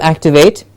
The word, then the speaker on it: activate: division activate activate and we get the stress at the back activate and it is not a simple activate at the same level the stressed syllable has to be said with a little more force with a little more a higher pitch it has to be said as activate activate you can see